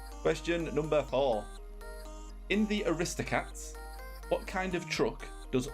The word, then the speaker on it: Aristocats: Katz why I just I pronounce Aristocats no Aristocats what emphasis was on wrist Aristocats there's just no